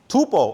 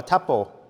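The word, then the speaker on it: tuple: Tupo or tapo I think you can pronounce both.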